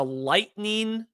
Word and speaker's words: Litening: This is a lightning lightning camera, G4 we think. I've been saying it wrong. I It's I It's spelled Litening, but it's pronounced Lightning.